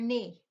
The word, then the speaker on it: knee: okay n e e we do not pronounce the K it's your knee the next word is